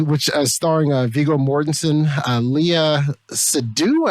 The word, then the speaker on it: Seydoux: So this movie, which starring Viggo Mortensen, Leah Seydoux, I never knew the correct way to pronounce her last name. It's French. I think it's Seydoux.